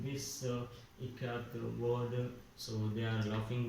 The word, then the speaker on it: Ikat: So Janaki teacher said it is pronounced I as in it, Ka as Kamala, and T is T as TH, Tha in both here.